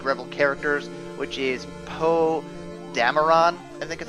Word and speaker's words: Dameron: We have what looks like to be the rebel leader, or one of the big rebel characters, which is Poe Dameron. I think is how you pronounce that.